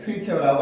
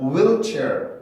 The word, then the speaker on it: wheelchair: H 발음이 있지만 발음 기호로는 없어. 발음 기호로는 그게 없습니다. H 소리가 없어요. 그러니까 우리가 생각할 때 휠이라고 생각했던 게 휠이 아니었던 거예요. 휠이 아니고 H 발음이 없으니까 그냥 순수하게 W 발음만 넣어서 wheel이라고 발음을 해줘야 돼요.